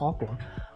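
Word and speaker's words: Aqours: Aqua, see, that's how I know it's pronounced Aqua.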